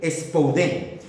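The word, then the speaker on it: σπουδήν: La palabra diligencia en griego se pronuncia spouden.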